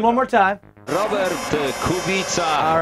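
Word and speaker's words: Kubica: Robert the kubita. All right, there it is. Kubita. Now, I was saying it wrong. I was saying kubitza and JF was saying kubika.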